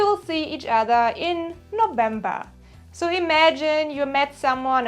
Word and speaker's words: November: The German pronunciation is November.